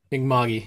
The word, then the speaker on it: Mi'kmaq: And he and his family lives, resides in, and here I'm really going to have a pronunciation issue, Mi'kmaq, is that the? Mi'kmaq, yeah.